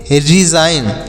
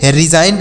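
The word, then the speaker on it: resign: मतलब शादी करना Mary R ई एस आई जी एन तो इस आर से र आई से सॉरी ई से छोटी ई की मात्रा यस से स आई से आई पढ़ेंगे जी साइलेंट है एन से न तो इसे पढ़ेंगे रिजाइन इसे रिजाइन पढ़ेंगे रिजाइन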